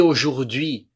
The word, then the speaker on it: aujourd'hui: Et aujourd'hui, não falo o T aqui, é só E. Aujourd'hui. E, não pronuncio o T. Aujourd'hui, je vais.